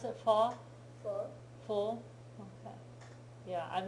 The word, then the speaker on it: pho: that's how you pronounce it, pho?